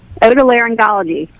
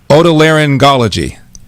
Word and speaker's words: otolaryngology: How do you pronounce it? Otolaryngology. Otolaryngology.